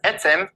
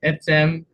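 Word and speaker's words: עצם: And so today's word is etzem, meaning bone. So that's how you say it, Etsem, in the Hebrew, and it means bones.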